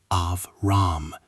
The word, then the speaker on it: Abram: In Hebrew, Abram is pronounced Avram.